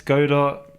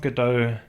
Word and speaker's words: Godot: 506 okay fair play how you pronounce godar is Godot there's no it's not good though um right so X